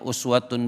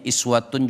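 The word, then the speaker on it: أسوة: Ada yang bacanya uswatun boleh, ada yang bacanya iswatun juga boleh.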